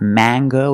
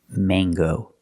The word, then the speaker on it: mango: word is mango mango use the long a it's not mango and it's not in English it is mango with this word we pronounce the hard G sound so it's mango mango